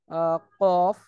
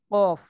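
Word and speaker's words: كاف: উচ্চারণ হয় তারপর হচ্ছে জিহ্বার গোড়া একটু আগে বাড়িয়ে তার বরাবর উপরে তালুর সঙ্গে লাগিয়ে এই কাফ এটা উচ্চারণ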